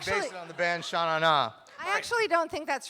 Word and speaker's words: Shannara: Although I heard someone who had talked to Terry Brooks say that he pronounces it sort of Shannara, right?